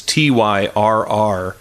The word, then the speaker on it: Tyrrell: It's Tyrrell, 2 R's, 2 L's. Okay. You'd look at it and pronounce it Tyrell or Tyrell. Right. You nailed it. Tyrrell it is.